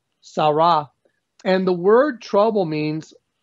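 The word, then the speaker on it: צרה: The word trouble is a Hebrew word, 6869, and it's pronounced sarah, sarah.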